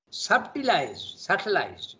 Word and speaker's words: subtilized: Okay, subtilized. You don't pronounce the B, huh?